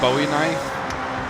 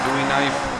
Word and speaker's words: Bowie knife: Now, I tell you right now, that AI uh Bowie knife, oh my goodness. I think it's buoy I think it's pronounced buoy knife. I know it is in real life.